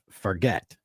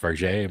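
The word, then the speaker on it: Fargeat: Amelia Perez, and Coralie Farget for The Substance. Yes. Probably massacred those names. I think it's pronounced Farget, but Farget. I could be wrong. It's like Target.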